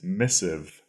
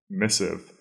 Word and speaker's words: missive: funny or exciting way our second word is missive missive that is spelled m i SS Miss i v v e if missive a missive is simply a letter and it usually refers